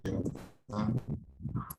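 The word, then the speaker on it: Yoota: Dibacanya Yota atau Yuta karena double O. Ya, silakan. Belum terdengar suaranya. Biasa dipanggil Yota, asli Surabaya.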